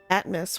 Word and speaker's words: Atmas: Atmas, which rhymes with Atlas, and he's dealing with the map?